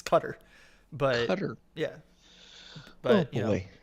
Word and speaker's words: Qatar: any case I mean everybody is still mispronouncing cutter on there too so you know like those Qatar exactly it's cutter but yeah but you